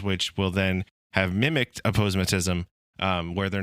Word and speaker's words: aposematism: to notice them um and it's also aosm aposematism Ash how do you pronounce that you got it aposematism it's an aposematism uh Ash explain what aposematism